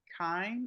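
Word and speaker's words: Kihn: Um, Deputy Mayor um, Kine, I believe is how you pronounce his last name.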